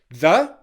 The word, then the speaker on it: the: The is a weak, unstressed the. It's the th sound, voiced, followed by the schwa sound, the.